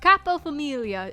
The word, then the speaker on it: Capofamiglia: Capofamiglia. Capofamiglia. Of course, G is silent.